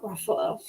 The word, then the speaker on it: Ruffalo: We're gonna go with rhymes with Buffalo. Mark Ruffalo.